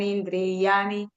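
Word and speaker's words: indriyāṇi: Mamá banso, jiva bloque, jiva bhuta sanatanaha, manasastan indriyani. La Y suena como I. ¿Cómo es? Entonces, indriyani, Indriani.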